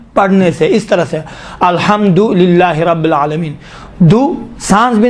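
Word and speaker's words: الحمد لله: مثلا الحمدللہ رب العالمین، دللہ صحیح نہیں ہے، دلیل دیکھیں الحمد الگ ہے، للہ الگ ہے، حمد ہو للہ پروردگار عالمین کے لیے، للہ خدا کے لیے، الحمد بالکل الگ تلفظ کریں، للہ الگ دلیل نہیں کہیں۔ اور روایات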